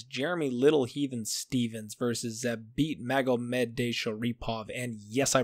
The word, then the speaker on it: Zabit Magomedov: Now, the main event for the prelim card on ESPN is Jeremy Little Heathen Stevens versus Zabit Magomedov. And yes, I pronounced that correctly.